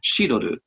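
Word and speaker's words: cidre: to avoid that confusion they adopted the French pronunciation so in Japan many wineries will call hard cider she'd order around now you've got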